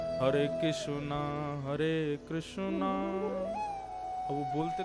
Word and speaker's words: कृष्ण: बहुत लोग अशुद्ध बोलते कई लोग कृष्णा बोलेंगे कई कृष्ण बोलेंगे कई कृष्ण बोलेंगे कई किशन कृष्ण पता ही नहीं क्या क्या बोलते कृष्ण शब्द शुद्ध उच्चारण नहीं करते हमारे गुजरात में चले जाओ कृष्ण कृष्ण रुक्मणी नहीं रुक्मणी कृपा नहीं कृपा हृदय नहीं हृदय गुजरात की भाषा अलग है लेकिन वास्तव में कृष्ण यह शुद्ध उच्चारण है तो महात्मा ने